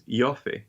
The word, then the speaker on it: Ioffe: it's by Julia Eoff, or how do you say her horrible name, the Russiagate truther lady? I think it's Ioffe. Yeah. Ioffe.